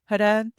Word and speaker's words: Ha: Ha, pronounced like as in Robin.